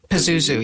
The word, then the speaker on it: Pazuzu: Ken said it was Pazuzu. Pazuzu, is that how you say it? Pazuzu, yes.